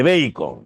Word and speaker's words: Bacon: Se dice Bacon. Se escribe baco.